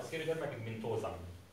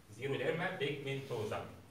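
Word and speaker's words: xeroderma pigmentosa: الزيرو ديرما بيجمنتوزا او سيرو ديرما بيجمنتوزا، الاكس لما بتيجي في اول الكلام كده بتتنطق زد، زيرو ديرما بيجمنتوزا.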